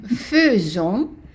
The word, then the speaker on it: faisons: Nous faisons. So the AI is an E.